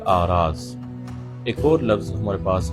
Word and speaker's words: اغراض: صحیح تلفظ ہے دہر۔ اس کے بعد ایک اور لفظ ہے اغراض، جو کہ غرض کی جمع ہے، یہ بھی تلفظ کے لحاظ سے غلط ہے، اس کا صحیح تلفظ ہے آراز۔ ایک اور لفظ ہمارے